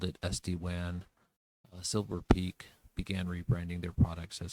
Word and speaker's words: Silver Peak: This year, HPE, or Hewlett Packard Enterprise, purchased Silver Peaks. Silver Peak is the way it's pronounced.